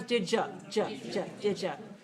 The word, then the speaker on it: did you: watch the videos okay so listen to the sound change did you become didja could you becomes could